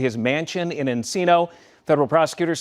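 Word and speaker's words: Encino: And they say this mansion was in Enino and Enino uh Enino rhymes with casino.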